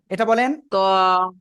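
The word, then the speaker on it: ط: এই অক্ষরটা উচ্চারণ করেন তো দেখি পারেন কিনা তন ত ওকে দেখেন এটা কিন্তু তা না এটা হলো ত মোটা আওয়াজে বলতে হবে ওই দুই দাঁতের গোড়ায়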